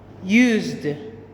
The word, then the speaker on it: used: Third word is used. Used. Do you hear the word? The sound? Yes, it's D.